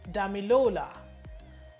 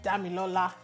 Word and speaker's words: Damilola: So she says Damilola. And then the guy is like, no, it's Damilola.